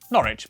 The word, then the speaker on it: Norwich: stir Lester wer gluster w at the start of the final syllable is silent Norwich Beric souk e r